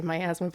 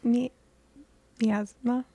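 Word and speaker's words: miasma: is covered in like as I like to say myasthma but Hannah said I'm pronouncing wrong it's me MMA all right but well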